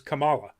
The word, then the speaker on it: Kamala: clear in here where she corrects one of her fellow classmates that it is kamala it is kamala khan so it's going to